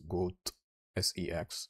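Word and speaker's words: Goatse: Goatsy, a shock image originally from the website goatsy.cx, which was intended to be pronounced as goat sex, although the suffix .cx is no longer in use.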